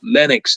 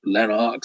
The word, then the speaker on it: Lenox: to start saying well you mispronounced my name it's linux not lenox it's like i mean people